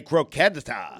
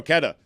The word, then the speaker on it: croqueta: Actually, a croqueta. The second time was worse. Croqueta. Wrong on 2 counts. You added there. a syllable the first time.